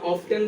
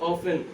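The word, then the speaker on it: often: আচ্ছা এটা একটু উচ্চারণটা একটু করে এরকম, এটা অফটেন বলতে পারবা না, এটা হচ্ছে অফেন, মানে এটা টিটা একটু করে কি মানে কি উজ্জ্বল থাকে, এটা অফেন।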